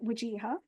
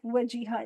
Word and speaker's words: Wajiha: So my name is Wajiha. My name is obviously very easy for me to pronounce. It's 6 letters. It's 3 syllables. It's very easy phonetically in my brain. I'm like Wajiha.